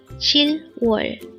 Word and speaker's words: 칠월: here at day angle word number 334 chill wall let's pronounce a two syllable word first syllable is